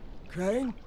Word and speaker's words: Crane: no my name's crane crane crane rhymes with train and brain and sane and grain and rain and plane and the other kind of plane and and can i